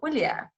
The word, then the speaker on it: Julia: Julia, J, the J is pronounced like an H in Spanish. If that helps you visualize, it will be Julia then.